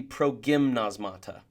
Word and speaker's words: progymnasmata: And if someone wants to be technical, I bet Greek geeks would tell me that I'm mispronouncing this word, that it should be progymnasmata. But I like to pronounce it gym to remind us that we're exercising here.